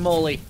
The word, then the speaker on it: Molly: We're going to call him Mo Lee. As in Molly. All right, and that's how it's pronounced too.